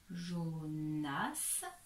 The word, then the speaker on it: Jonas: voilà ici on à jonas ou prononce bien le s ici il n'est pas muet jonas ici on à arthur